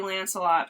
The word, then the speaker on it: Lancelot: Honestly, I should have seen it coming that it would be Lancelot, because it rhymes with Camelot and Shalott.